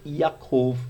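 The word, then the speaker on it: יעקב: sinta-se à vontade ok e a cor é a pronúncia no hebraico para Jacó aqui para nós a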